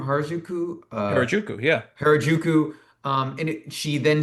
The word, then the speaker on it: Harajuku: Harajuku, yeah.